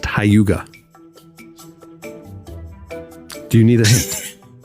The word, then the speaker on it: Hygge: It's spelled Hygge, but it's pronounced Hyuga.